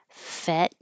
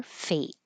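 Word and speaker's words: fete: Fet or fate are possible pronunciations. And then a different fate has to be a fate.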